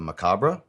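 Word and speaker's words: Merkaba: uh definition for uh the macabra that's how you say it also spelled macabra this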